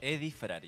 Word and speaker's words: Eddie Frari: con nosotros eh Eddy frari Eddie frari se pronuncia así Eddy frari Eddie frari bueno él es la persona que